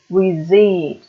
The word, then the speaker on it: receipt: Pronounce it, receipt, el ticket de compra.